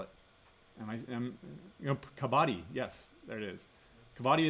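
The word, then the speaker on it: Kabaddi: Uh, you know, you you find Now, I would add to this uh kabati.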